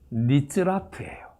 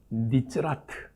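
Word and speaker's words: נצרת: 나사렛이라고 하는 단어는 히브리어 발음으로 하면은 니츠라트예요. 니츠라트.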